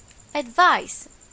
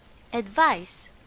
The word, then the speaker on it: advice: and its pronunciation is advice remember it's an S advice the second one is